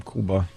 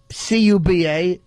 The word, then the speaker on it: Cuba: Island Iraq is right He does pronounce his name Kuba No, no. It's Cuba Gooding Jr..